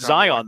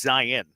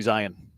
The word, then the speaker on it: Zion: You know, it's not Zion though. It's It's Zion.